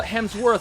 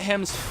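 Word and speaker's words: Hemsworth: some of them uh hems worth not hems F yeah okay yeah I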